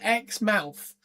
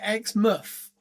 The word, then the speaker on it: Exmouth: So they said Exmouth. We would call it Exmouth.